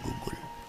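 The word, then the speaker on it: गुग्गुलु: यह गूगल है गुगलू गूगल वैसे हिंदी और इंग्लिश में तो उसकी स्पेलिंग एक ही जैसी होती है लेकिन अर्थ संस्कृत में गुगुलू बोलते है गुगुलू वापस आ जाओ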